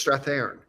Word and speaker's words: Strathairn: Are you saying that right? Or am I saying it right? He goes, it's Strathairn. I'm like, well, holy shit, I've been saying it wrong for 15 years.